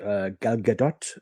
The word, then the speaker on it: Gal Gadot: But the actress they chose, Gal Gadot, as I'm told she's pronounced, is easily, 30 centimeters shorter than the actor playing Superman.